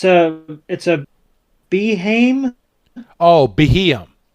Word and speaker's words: Beheeyem: Oh, Beheeyem. Beheeyem. Yes. So Beheeyem comes into the frame, and when the Beheeyem comes over into the frame, it's recording what's going on between Hamber and Amethio.